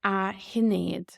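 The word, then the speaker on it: Sinéad: Again, if you were calling Sinead, you would put A in front of it in the Irish language. So you'd say a hinead. A hinead.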